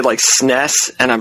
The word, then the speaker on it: NES: Entertainment System the NES I really hope you call it the NES and not the nest you do have any